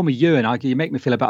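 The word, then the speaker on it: Euan: Call me Ewan.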